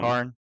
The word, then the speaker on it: Karn: How do you pronounce his Yeah, name? him. Karn.